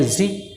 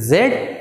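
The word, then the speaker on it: Z: पढ़ते हैं, जेड एंड जी, लेकिन ये दोनों सही हैं। जेड ब्रिटिश के लोग पढ़ते हैं और जी अमेरिकन के लोग पढ़ते हैं, यानी कि दोनों का प्रोनाउंसिएशन ठीक है, जेड और जी।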